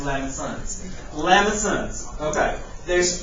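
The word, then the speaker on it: limaçon: I thought it was Lamacons, but it's pronounced Lamesons.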